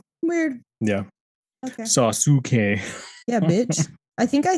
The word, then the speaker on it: Sasuke: Why is his name spelled differently than you say it? That's how you say it in Japan, though. But you don't pronounce use? Not really. Weird. It depends on where they fall in the name.